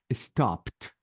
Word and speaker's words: stopped: and here I said stopped I changed the E to T and I deleted the e sound and decid did I